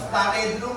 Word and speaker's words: snare drum: Nah, yang pertama itu tadi ya, bukan snare drum ya.